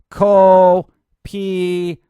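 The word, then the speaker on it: Kopiko: You got to get it right. Copico. Not being condescending. I'm just trying to tell you how to pronounce it properly.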